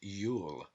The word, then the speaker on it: Iul: One of these names for Jew is Iul, pronounced Yule.